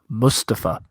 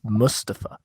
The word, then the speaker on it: Mustafa: we're going to have mustafa not mustafa he said it's mustafa um say it right he made a big deal about that on talking raw